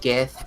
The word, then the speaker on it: GIF: know it's I only know it's GIF because GIF is with a J and that's the peanut butter yes yes that's also